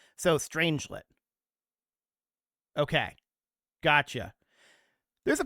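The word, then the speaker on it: strangelet: it is apparently pronounced stranglet. Okay. With the fir well strangit m actually it's unclear the first syllable like strange and the second syllable like lit. So stranglet.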